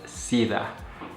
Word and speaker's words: SIDA: We're going to start out with number one is SIDA, pronounced as SIDA.